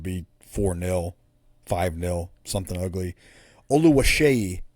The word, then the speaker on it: Oluwaseyi: Oluwaseyi is how you pronounce his last name.